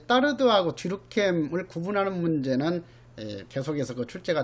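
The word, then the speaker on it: Durkheim: 그래서 뒤룩캠을 뒤룩갱이라고 발음하기도 하기 때문에 갱한테는 범죄는 지극히 필요하고 정상적인 현상이다.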